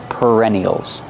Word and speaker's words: perennial: these flowers are called perennials pronunciation use the r sound like Burger per per perennial these flowers are called